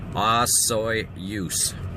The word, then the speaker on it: Osoyoos: Now, we're just on the outskirts of Osoyoos, and it's pronounced Osoyoos, as in moose.